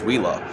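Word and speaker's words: Uila: actually won the VM World finalist award is wheela um that company is is amazing from what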